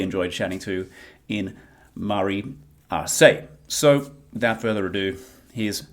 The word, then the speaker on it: Arce: This week, I have the pleasure of being joined by Marizelle Arce. Am I pronouncing Arce right? Arce, yeah, perfect. Arce. I was close.